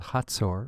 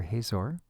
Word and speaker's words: Hazor: They will be coming from the north from a city called Hatzor or Hazor.